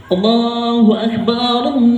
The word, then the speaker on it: Allahu Akbar: kalau Kubro harus jelas tapi banyak yang takbiran enggak dibaca huruf dalnya Allahu Akbar Lailahaillallah Wallahu Akbar Allahu Akbar Walillah Ilham harusnya begitu bacanya tapi Ilham Udah Padahal di